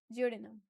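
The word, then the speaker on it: duodenum: Small intestine का सबसे पहला पार्ट है उसको हम लोग प्रोनाउंस करते हैं जियोडिनम।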